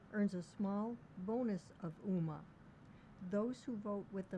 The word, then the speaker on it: UMA: It's pronounced UMA and stands for Universal Market Access.